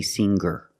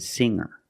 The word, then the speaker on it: singer: r together hanger hanger there's no G sound I cannot say hanger I cannot say singer it's hanger and singer example he has hangers